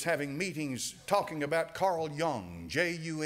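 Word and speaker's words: Jung: meetings talking about Carl Young juu n do you know who he was Carl Young his name's pronounced young it's ju u n g he was a man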